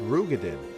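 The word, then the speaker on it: Roegadyn: admit some slight delay technically rogue it is pronounced rugadin and as a rogue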